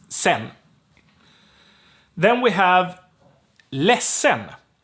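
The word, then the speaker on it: sedan: means later or then sen so here the d gets dropped but also the a gets dropped because it's we don't say c um it's weird it's sen then we have les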